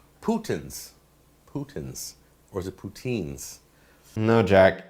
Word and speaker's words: poutine: No, putain is poutine. Not putain. Putin's a swear word. Putain is used for everything.